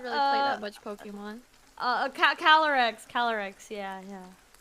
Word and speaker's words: Calyrex: Yeah, I think it's like Cali, Cali, like California, and then Y-R-E. REX. No wait, it's CALYREX. Yeah. Oh, it's a Y.